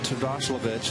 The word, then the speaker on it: Terdoslavich: You got Terdoslavich, I said it right, out there.